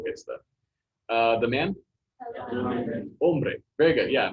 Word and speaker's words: hombre: Hombre. Very good. Yeah. No H, so or no sound for the H, so hombre. Hombre.